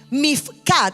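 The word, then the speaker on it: מִפְקָד: Ahora, e la palabra hebrea, en la puerta de la inspección, la palabra hebrea mifcat se escribe m i f k a d.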